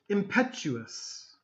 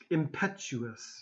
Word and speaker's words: impetuous: Impetuous. Impetuous. Okay? So the T here, be careful of the sound.